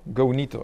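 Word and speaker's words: Gonito: application which is called ganito go neato either yeah I would pronounce it in a in the in the polish way or in actual in the postman way so it's gonna go neato so and I'm going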